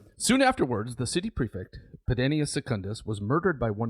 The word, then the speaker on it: Pedanius: Pedanius, I think I mispronounced him earlier as Pedianus, but Pedanius Secundus murdered by one of his own slaves.